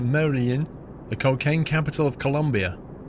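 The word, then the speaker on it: Medellín: Make sure you stay clear of Medellin, pronounced Medellin, the cocaine capital of Colombia.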